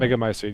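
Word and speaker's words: Megamycete: that the Mega Mycete, Mega Mycete, Mycete, you pronounce it right. Mega Mycete, yeah.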